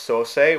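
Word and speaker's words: 双星: this case is pronounced so say which is the same way that creation or Genesis is pronounced in japanese okay and now we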